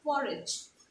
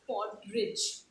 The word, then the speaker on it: porridge: like twice we say uh porridge it's not for rich okay it's porridge if i can i